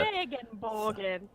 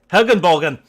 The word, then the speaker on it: Regenbogen: Regenbogen. I don't know how to pronounce it. Hagenbogen! It's with an R! Regenbogen. Regenbogen! Okay. Regenbogen. Okay, I've been saying so many episodes just Hagenbogen.